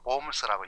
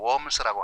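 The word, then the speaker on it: Worms: 20km, 25km 위로 올라가면 독일 발음으로 봄스라고 영어로 웜스라고 하는 독일 그 루터가 종교 재판 받았던 그 도시가 있거든요.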